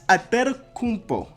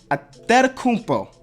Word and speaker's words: Antetokounmpo: In the Nigerian way, you gotta say with a D, so it's Antetokounmpo.